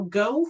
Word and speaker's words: Geaux: And just so you know, Go is spelled Geaux. It's the French spelling of go.